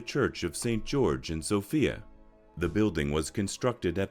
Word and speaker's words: Sofia: the capital city of Bulgaria is Sofia and it's called Sofia not Sofia every English-speaking person pronounces it as a female name it's Sofia it is also the